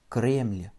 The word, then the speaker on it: Кремль: Кремль.